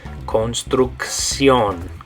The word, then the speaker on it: construcción: So the first two make a K sound, and the last one makes a S sound. Construcción.